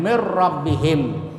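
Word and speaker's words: من ربهم: Contoh yang lain mir rabbihim. Ya, nun mati bertemu ra. Nah, itu cara membacanya dimasukkan. Hudal mir ya, jadi masukkan ke huruf sesudahnya, sesudah nun mati atau tanwin dan tidak berdengung.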